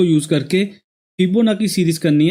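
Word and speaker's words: Fibonacci: इसको हम कुछ लोग फिबोनाकी भी बोलते हैं एंड कुछ लोग फिबोनाची भी बोलते हैं, लेकिन इसकी एक्चुअल प्रोनाउंसिएशन फिबोनाची होती है।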